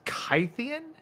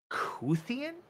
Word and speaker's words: Scythian: Scythian is pronounced Kythian. And the Y should be pronounced a bit like a U. So it's a Kuthian.